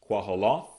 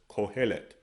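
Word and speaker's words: קהלת: Ecclesiastes, Quahaloth. They pronounce as Kohelet. Kohelet.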